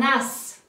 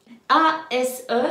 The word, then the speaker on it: as: Donc, un as. L'as. A-S-E, ça se prononce as.